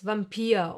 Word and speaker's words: Vampir: But sometimes, just sometimes, it will be pronounced like the German W. Remember? V. Like in the words Vampir or Vulkan.